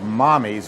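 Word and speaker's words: Mamis: called Mammy's, or Mommy's, it's spelled like Mammy's, M-A-M-I-S, but it's called Mommy's, which is Italian for mother.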